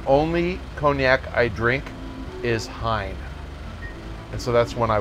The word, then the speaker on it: Hine: called Pine H I and II the French pronounce it een but its Hine because the Hine brothers in the 1700s decided